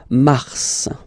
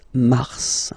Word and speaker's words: mars: Okay, so in a way it's an exception because normally final S is not pronounced in French. Okay, we've got some exceptions and this one is one of them. So mars, pronounce the final S, mars, mars.